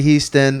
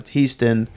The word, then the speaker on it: Hiestand: Alpha Grand Alpha Grand the great Bambi Brady Houston I say it with the E noun today because that's how he says I've also mispronounced his name this whole entire time teased in right yeah Marie's trying to change my name